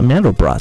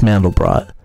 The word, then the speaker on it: Mandelbrot: I think it's Mandelbrot, because it means almond bread, and brot means bread in German. It's not French, so I think it's Mandelbrot.